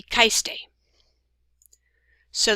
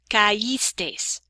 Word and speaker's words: caístes: But for these, we need this I with an accent mark, caímos. And again, if we didn't have it, it would be caimos, or this would be caistes.